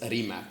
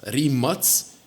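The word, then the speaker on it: Rimac: are going to start stop producing remat as remac man like when we start listening to people pronounce remat is Rems that's going to be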